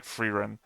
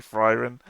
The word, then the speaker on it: Frieren: fan which I yeah I should probably start saying freerun because it's obvious that's the actual way name that's actually her name even we had the pronunciation guide earlier and I'm still saying Fran because that's just how I read it the first time and now it's stuck